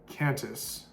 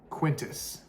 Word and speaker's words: Qantas: Qatar Airways, or no, Qantas. Actually, that's not how you say it. Somebody's gonna fry me in the comment section. Quintus. I think something like that.